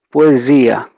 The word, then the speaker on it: poesia: Quando tem um S entre 2 vogais, é o som de Z, poesia.